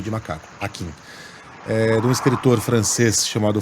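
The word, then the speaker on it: Hakim: Akin se escreve H-A-K-I-M, M de macaco, Akin.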